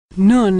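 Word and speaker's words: נון: Nun is pronounced N as in November.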